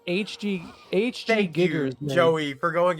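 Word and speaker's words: Giger: said you mispronounced HG Thank Giggers. you, man. Joey, for going exactly where my brain went. I said Mhm. Geiger, didn't I?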